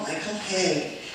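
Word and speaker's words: Michael Hauge: And one was a man called, and is a man called Michael Hay. If you're a writer, his name is spelled Hauge.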